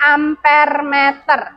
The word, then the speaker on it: amperemeter: Ini amperemeter, bacanya ampermeter.